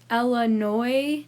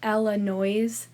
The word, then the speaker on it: Illinois: hard to spell but we also have to just add in a silent s there why is it there I have no idea oh wait yeah I do but you can look it up it's not too complicated so long story short it's pronounced eloi not elano so yeah that's just